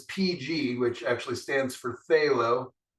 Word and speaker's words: phthalo: which actually stands for phthalo um the pterodactyl P silent p uh plus um quinone